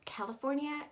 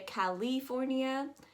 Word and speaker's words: California: eye a little bit some people say california you're actually going to make it very soft you're going to go that i h kind of sound so it's going to go california next up we have